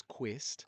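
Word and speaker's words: Kvist: getting because my last name's quist but it's spelled k v i s t.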